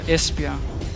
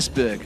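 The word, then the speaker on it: Esbjerg: fishing town in your beautiful beloved Denmark ah espia there you go yeah it was actually one is that how you pronounced it I I said esberg I do yeah there we go today I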